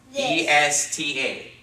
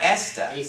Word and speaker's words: esta: ta yes this okay and how is it pronounced not esta the ASA because remember the vowels always make the sounds aw ay e o always so this is bouncing esta it has how many syllables